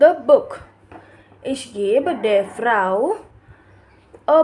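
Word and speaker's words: Buch: Book को बोलते हैं बुक, CH। अगर CH के पहले वॉवल आता है तो हम उसे ख प्रोनाउंस करते हैं।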